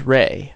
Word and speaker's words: rei: A reason for this is that a way of pronouncing zero in Japanese, or at least a word that means zero, is rei, R-E-I, but rei can also refer to spirit or ghost.